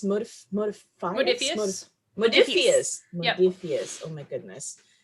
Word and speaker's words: Modiphius: I'm sorry, how do you pronounce this? Modiphius. Modiphius.